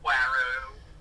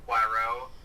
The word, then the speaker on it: Poirot: I like Kenneth Branagh as her Poirot.